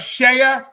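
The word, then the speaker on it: CEIA: And we also have Shea USA. Now, Shea USA, Shea is spelled C-E-I-A.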